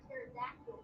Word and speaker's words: pterodactyl: Why can't you hear a pterodactyl going to the bathroom? Because the P is silent, Holly.